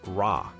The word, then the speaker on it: Ra: would periodically swallow the sun god R pronounced Rah this act of swallowing